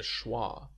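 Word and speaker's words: schwa: found abundantly in English basically if you relax your entire mouth and make a noise that's awah uh most people will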